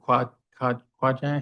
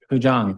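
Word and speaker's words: Qigong: 4, stay tuned, Tai Chi, and I don't know if I can say the word Quajang, how do you say the other? Kujang, thank you.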